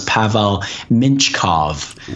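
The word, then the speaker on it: Pavel Mintyukov: need defenseman in their prospect pool and that's pavel minchkov um that's the pronunciation i watched the saginaw spirit broadcast to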